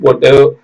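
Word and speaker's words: bought: ஹெச் டி தாட் இதெல்லாம் தயவு செய்து ஒரு நோட் போட்டு ஒரு 10 தடவை 20 தடவை 25 தடவை நல்லா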